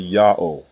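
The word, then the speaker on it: יהוה: the first letter yah the second letter ha is silent it assumes the sound of the previous vowel and closes the first syllable the third letter W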